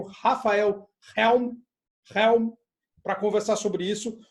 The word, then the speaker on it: Helm: E tu pronunciou certo, é Helm. Isso aí. Helm. Porque essa é muito doido, né? A gente tem uns sobrenomes que às vezes você fala assim, nossa, eu não sei se esse H é mudo. Você fala Helm. Poderia ser, né? Mas Helm.